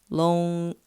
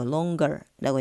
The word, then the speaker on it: longer: ng로 끝났을 때 er이 붙는 경우에는 stronger 해가지고 g 발음을 살려주는 경우가 뭐 많아요. 자, 요런 경우가 long 같은 경우에도 마찬가지예요. longer 아니고 longer라고 얘기를 합니다.